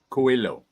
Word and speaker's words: Coelho: Coelho.